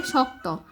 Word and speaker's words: শক্ত: চাকরানি পাওয়া শক্ত, এটাকে বলছো কিন্তু, কিন্তু এটা হবে শক্ত, তালবস ক, শক, প্রথমে কর উচ্চারণটা, তারপর সংযুক্ত ত, শক্ত হতো তার পক্ষে।